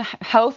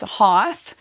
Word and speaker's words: Hoth: I have a special guest on, Tracy Hoth, and Hoth like both, cuz if you read it, it you might pronounce it as Hoth, but I actually did